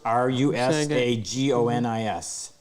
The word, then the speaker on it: Rusagonis: I can't pronounce that French word. Rishabuktu. No, it's Rusagonis. Go ahead, Frick. Rusaganis or something?